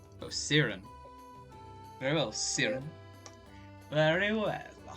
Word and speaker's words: Ciarren: oh i just say i see right oh siren very well serum very well let's see here